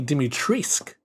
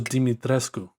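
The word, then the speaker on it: Dimitrescu: we all love lady dimitrisk it's actually pronounced uh i originally thought it was dimitresco you know i mean yeah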